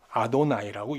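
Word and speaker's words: יהוה: 근데 읽을 때는 야외로 읽지 않습니다. 왜? 하나님의 이름을 망령때이 부른다는 거예요. 그래서 아도나이 주로 읽어요. 자, 성경에 하나님의 이름은 다 구약 성경에 야외로 돼 있어요. 야외라고 읽지 않아요. 아도나이라고 읽어요. 야회라 쓰고 아도나이라 읽어요.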